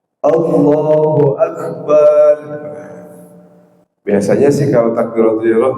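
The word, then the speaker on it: الله أكبر: Dan juga tidak boleh ketika kita mengucapkan takbiratul ihram itu memanjangkan huruf bnya. Allahu Akbar.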